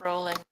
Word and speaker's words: Rowling: Actually, her name is pronounced rolling.